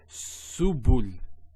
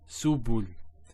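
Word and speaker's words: سُبُل: So to pronounce this has a S sound. So su, bu, and this is the lam, like the letter L. So subul, subul.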